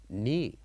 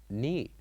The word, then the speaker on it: knee: other example which is knee knee so Here we wrote the letter K and N. But we only say ni. Knee. So the K here is silent.